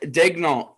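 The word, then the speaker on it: Daigneault: 35 i'm trying to pull up how to pronounce his name it is mark dagnolt okay he coached bradley beal at florida with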